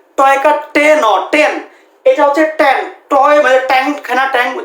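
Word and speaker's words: tan: এইটা হচ্ছে 10 এইটা হচ্ছে একটা অনুপাত এইটার উচ্চারণ টেন টয়কার টেন টেন এইটা হচ্ছে ট্যান টয় মানে ট্যাং খেনা ট্যাং ট্যাংক শরবত ওইটা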